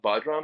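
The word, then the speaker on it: bodhrán: In Ireland, there is another a family of it, you know, the bot bodram, I think is the correct pronunciation of the word, but um the different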